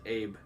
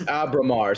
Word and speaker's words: Abramar: By the way, I think it's Abramar. Yeah, I was I was going to guess Abramar. Your name's Abe. No, no, it's Abramar.